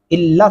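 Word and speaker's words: إلا: الا اگر آپ پڑھتے ہیں لام لمبا نہیں کرتے تو یہ بہت بڑی غلطی ہے. الا لام کے اندر جو الف ہے یہ لام کی آواز کو لمبا کر رہا ہے.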